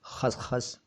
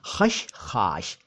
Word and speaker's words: खशखाश: अब सुन लीजिए साहब, ये तीनों ही उच्चारण गलत हैं। जी हाँ तो ये भी एक तरह का बड़ा खुलासा हो गया सही शब्द है खशखाश।